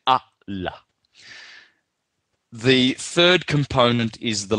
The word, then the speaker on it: Allah: stop to the a you would not say Allah you say ah la the third component is